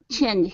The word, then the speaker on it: change: One day, a young girl named Chelsea started to change his mind, though. Okay, very good. Let's go to the word change. Okay, make sure to pronounce that J sound there at the end.